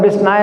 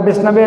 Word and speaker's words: विष्णवे: मूर्ख व्यक्ति बोलता है विष्णाय नमः और विद्वान व्यक्ति बोलता है विष्णवे नमः किंतु भगवान श्री कृष्ण दोनों के वचनों को समान भाव से ग्रहण करते हैं।